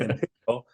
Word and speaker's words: Empyreal: today uh ampir Imperial I want to keep saying ampir because it's it's spelled that way but Imperial uh what is Imperial